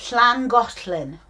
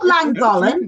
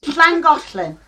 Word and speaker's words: Llangollen: The Llangollen. Ooh. Oh. That's very well pronounced. Not Llangollen. No. Llangollen.